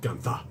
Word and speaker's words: Gunther: make the 416 gun his name's spelled gunther but it's pronounced ganta because he's from maine and so he makes the 416 gunta from like i i